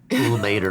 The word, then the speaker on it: Ilmater: So not playing to Ilmater. How it's said. That is how it's said. I looked into this a lot. Nope. That's how it's said. I know. That's how it said. It's Ilmater. So not praying to Ilmater though.